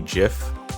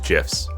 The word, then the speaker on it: GIF: wanted it to be GIF pronounced like a j sound specifically so he could make a pun off of the peanut butter like literally one of his quotes was choosy developers choose gifs so that's why I